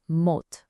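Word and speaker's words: մոտ: For near, the word is mot, pronounced mot.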